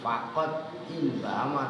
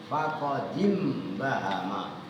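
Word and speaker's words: فقد انبهم: Zaid Iya faqod inbahama maka betul-betul dibaca langsung bukan faqat in bahama tapi faqodim bahama karena Im bahama hamzahnya adalah Hamzah wasal Nah kalau kemasukan qot qotnya kan dibaca sukun ah bacanya jadi faqodim bahama nyambung kalau dibaca was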